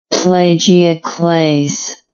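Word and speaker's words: plagioclase: and plagio plagio class let's see how this pronounced plagio Clays plagio Clays all right interesting and here is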